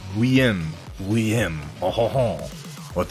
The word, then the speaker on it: Guillaume: It's like William, sort of, isn't it? Guillaume.